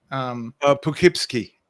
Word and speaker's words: Poughkeepsie: Also seen ABWH in, how do you pronounce that city? Poughkeepsie. Okay. Poughkeepsie.